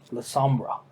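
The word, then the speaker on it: Lasombra: It's pronounced, as you see shadowy tentacles rise above him, La Sombra.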